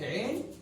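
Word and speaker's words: عين: It's written in the same shape like Ain, but it has got one dot over it.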